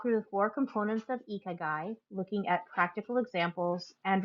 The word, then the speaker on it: Ikigai: And a quick pronunciation note. It is pronounced Ikigai.